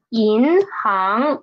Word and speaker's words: 银行: Next one is 银行. Read up to me, please. 银行, it is not this one, 行, the second character, second syllable, is not rising up from here, right? Like this. It is rising up from here. So it is 银行, not 银行. It's not like that. It's 银行. Okay.